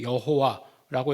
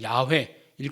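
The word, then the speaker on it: 야훼: 우리가 이제 뭐 우리 성경에 여호와라고 이렇게 기록되 있는 것은 대표적인 오류고 어 그다음에 이제 우리가 야외일 것이라고 추정하는 거지. 그것이 정확한 발음은 아니에요.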